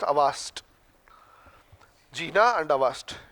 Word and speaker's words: Auerstedt: Avast, A-U-E-R-S-T-E-D-T. Avast. Auerstedt is written as Auerstedt, pronounced as Avast.